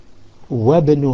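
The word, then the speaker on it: وابن: Ibn Khalidin fil madrasati, Wabn Hamidin fil jami'ati, Wabn Hamidin fil jami'ati. So that Hamzatul Wasl in the beginning of Ibn has dropped off because we have wa before it.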